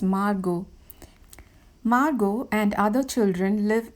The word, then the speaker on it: Margot: the story is margot m-a-r-g-o-t t is silent the name has to be pronounced as margot margot and other children